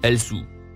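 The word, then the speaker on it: السوء: Le premier mot en surbrillance jaune, se prononce, el-sou.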